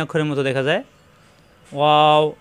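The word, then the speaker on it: و: ওয়াও, দুই ঠোঁট থেকে উচ্চারণ, দুই ঠোঁট একত্র হবে না।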